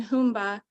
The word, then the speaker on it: Sumba: begin with part one tanahumba Zumba with the alternative pronunciation humba sometimes can be translated